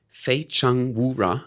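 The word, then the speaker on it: 非诚勿扰: Fei Cheng Wu Ra. Correct. Can you pronounce it?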